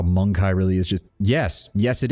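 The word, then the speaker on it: Mon-keigh: Okay, so even in game, they pronounce it monkey. They do. I purposely pronounce it Monkai, because the last thing I need is someone from Twitch coming in and being like, why is he calling people monkeys? At least with my pronunciation, I have a slight, difference there. Monkai, rather than just because of the extra letters in there.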